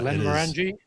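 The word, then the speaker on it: Glenmorangie: Uh this is I don't know how you pronounce this. It's one of the Glenn's. It's a scotch. Uh Glenn Morani. Glenn Morani.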